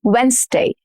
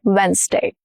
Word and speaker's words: Wednesday: Wednesday, Wednesday, and not Wednesday. Wednesday.